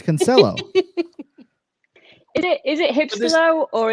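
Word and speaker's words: Cancelo: They say Cancello. Oh yeah, as if he's some kind of Italian. Yeah, yeah. And this host never corrects them. It's Cancello.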